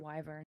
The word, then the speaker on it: wyvern: Wyvern.